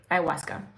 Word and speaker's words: ayahuasca: okay it's um yeah iasa like I've spelled it with the w too but it's a w a u h u a CA iwasa um I asked God